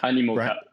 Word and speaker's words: Animoca: So Pixel Owl was acquired by, I don't know how to pronounce this, Animoca? Animoca.